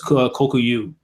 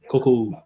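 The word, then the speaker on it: Kōkuo: And the girl's name was Kokuyu. Kokuo. Kokuo. Thought it was Oku.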